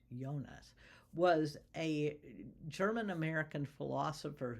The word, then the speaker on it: Jonas: Um, so Hans Jonas, sorry I said Jonas, but it's actually pronounced Yonas, was a German American philosopher who wrote the phenomenon of life in 1966.